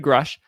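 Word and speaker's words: Grusch: Grush, that's how you pronounce his name. David Grush.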